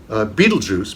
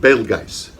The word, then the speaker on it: Betelgeuse: spelled the same but you might call it Betelgeuse because you saw the movie and I would call it Bailey guys but same star what's